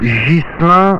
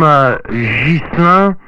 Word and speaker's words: Ghislain: My name is Ghislain, spell it Golf Hotel India Santiago Lima Alpha India November. For my name Ghislain, for your information, your radio report 55-56, 5x5, 5x6.